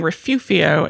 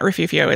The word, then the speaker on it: Refugio: had a comment saying refufio is an old Chumash pronunciation which I don't know but maybe it was and another comment saying that refuvio is like an archaic Spanish language pronunciation but but the G